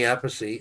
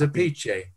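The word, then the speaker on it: Appice: people called it vinnie apocy and carmine of peace yeah i mean the real pronunciation in italian which is an italian name is apiche so embark at the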